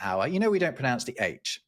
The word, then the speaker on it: hour: Here's an interesting fact about hour. We don't pronounce the H.